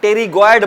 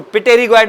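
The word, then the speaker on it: pterygoid: अभी आपको बताया कि पी के बाद अगर वल ना हो तो प साइलेंट हो जाता है तो इसका नाम पड़ जाएगा टेरी गड मसल लिखेंगे पी से टेरी इसको पटेरी गड नहीं पढ़ेंगे आप पी मुह पर नहीं आएगा क्यों क्योंकि प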